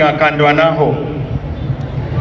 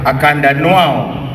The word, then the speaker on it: Akandwanaho: They actually have a problem pronouncing Akandwanaho. They say Akandanuao.